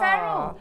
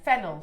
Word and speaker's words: Fennel: it was me feral Fab to work with they're gorgeous beautiful lovely really lovely sorry don't say your name wrong then fennel fennel sorry don't say feral sorry fennel fennel um well